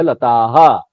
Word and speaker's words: लताः: देख रहे हैं पढ़ने का जो उच्चारण का ये है लता, और जब विसर्ग लग जाता है तो आहा बोलना पड़ता है हमको, लता आहा। ये है लता, ये है लताहा।